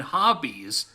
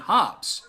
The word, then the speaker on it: Hobbes: remember Calvin and Hobbs no not Calvin and hobbies Calvin and Hobs the E is silent of course you remember